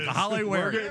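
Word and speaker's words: Kahale Warring: I'm going to get 10 minutes on Kahale Waring. You got the pronunciation right.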